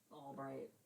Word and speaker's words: Ulbricht: Yeah, it's like Albright, but It looks like it's rich.